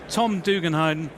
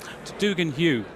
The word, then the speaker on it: Donoghue: sales over at SDVI and apologies I've said your name wrong. So Tom's going to pronounce it correctly. Um Dugan Hugh my apologies.